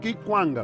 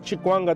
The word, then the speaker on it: Kikwanga: Kikwanga. Kikwanga. Não, eu por acaso falo Kikwanga. Se quiser falar Chikwanga também passa, porque lá em Cabinda, os nossos manos Befo e Befo falamos mesmo assim.